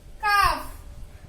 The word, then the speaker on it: calf: Come, calf, half, talk, walk.